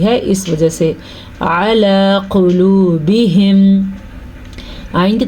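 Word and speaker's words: قلوبهم: قلوبہم، اکثر لوگ اس کو پڑھتے ہیں قلوبہم، یعنی کہ قاف کے اوپر زبر پڑھ لیتے ہیں. اس کو ہم قلوبہم پڑھیں گے، قلوبہم، کیونکہ قاف پہ پیش ہے اور قاف موٹی پڑھی جائے گی ہمیشہ کی طرح.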